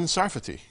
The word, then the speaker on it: Sarfati: Jonathan Sarfati. That's how you pronounce it.